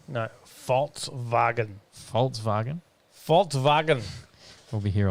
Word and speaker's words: Volkswagen: Statement from Volkswagen read, the Volkswagen brand is on its way to becoming the leading supplier in sustainable electric mobility.